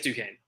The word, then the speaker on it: Duquesne: do quincy uh duquesne how do you say duquesne i think it's duquesne i think it's ducane yeah duquesne game they're like